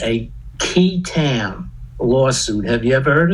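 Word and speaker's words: qui tam: the false claims act there's something called a key tam lawsuit have you ever heard of this no people have not it's spelled q-u-i-t-a-m okay actually goes back to english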